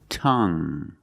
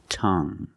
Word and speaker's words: tongue: have this word tongue the u e at the end is silent so we pronounce it like young tongue you have only the nasal sound there's no G it's just a sound tongue this is my tongue